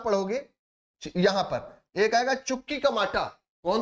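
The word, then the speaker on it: Chuquicamata: यहां पर एक आएगा चुकी कमाटा कौन सा आएगा चुकी कमाटा स्पेलिंग याद रखिएगा सी एच यू क्यू आई सी एच यू क्यू आई चुकी क्यूमाटा क्यूमाटा चुकी कुमाटा याद रखिएगा ये क्यों प्रसिद्ध है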